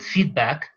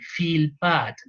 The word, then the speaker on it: feedback: sometimes we call feedback I have to pronounce it feedback otherwise is going to sounds like feel bad that it is is